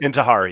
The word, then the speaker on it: Intihar: Is it Intihar? Is that how you say it? Intihar, yeah.